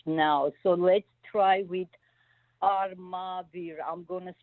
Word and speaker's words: Armavir: Armavir. Arabir. A R M as in Mary. Oh, M. A, yeah. Armavir.